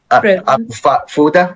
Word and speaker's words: Fuda: Fuda, am I pronouncing it correctly? Yes, correct.